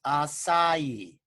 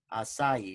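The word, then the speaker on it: açaí: tea okay and it's it's pronounced a it's pronounced acai acai it's pronounced acai okay and if you put that into pubmed.gov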